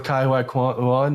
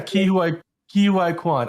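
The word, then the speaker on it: Ke Huy Quan: Yeah, Ki Hua Kwan. I was mispronouncing his name.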